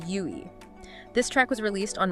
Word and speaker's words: YUI: And that's spelled YUI, pronounced YUI.